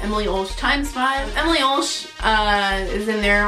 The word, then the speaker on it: Emily Ulsh X5: Basically what my channel name is, Emily Ulsh X5, how I like to pronounce it, Emily Ulsh times 5.